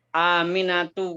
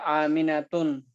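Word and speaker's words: آمنة: Aminatu nggak boleh, aminatun nggak boleh. Walaupun nggak ada alif lamnya, nggak boleh aminatun, ya.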